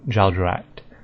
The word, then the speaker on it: Jagex: So I'd call it Jagex, and how do they pronounce it? Jagex. Okay, so that little ACHT is act rather than act, so Jagex.